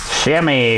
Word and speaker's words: chamois: Using the chamois to do that. Chamois, just like a sham wow guy.